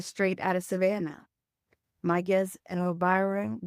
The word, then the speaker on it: Elvira: And just for the record, it's pronounced Elvira.